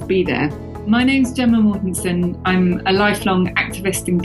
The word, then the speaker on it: Mortensen: Gemma, soft G. Gemma, okay. Yeah, that's even prettier. That's better. That's great. And Mortensen?